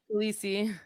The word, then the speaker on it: Khaleesi: How do you say her name, Chantal? Khaleesi. Yeah, Khaleesi, and like her, I happen